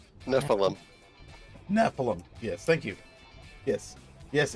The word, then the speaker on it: Nephilim: per how do you say this done a Nephron Nephilim Nephilim yes thank you yes yes agent this is